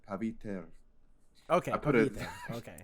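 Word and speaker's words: Pavitr: Um, But I looked up a pronunciation thing, and it's pronounced paviter.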